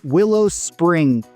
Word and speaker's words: Willow Springs: Next up, we have Willow Springs. I say that because you'll hear it pronounced both with and without that final S, and there are different